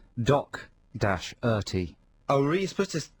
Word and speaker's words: Doherty: Because it says here on our notes with our playlist, pronounced Doc-Erty.